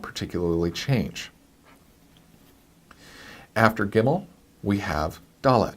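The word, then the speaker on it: גימל: it that B sound the third letter unlike English is not C but as in many other alphabets is the G sound and it is the word get her the letter gimel gimel good good gimel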